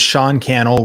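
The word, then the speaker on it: Cannell: My name is Sean Kel rhymes with YouTube channel and uh I am on a mission to help you win on YouTube.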